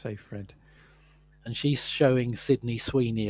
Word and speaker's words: Seyfried: Seyfried, apparently you pronounce it Sayfred, she says. Sayfred, okay. Yeah, yeah, a lot of people used to say Seyfried, but yeah, it's Sayfred.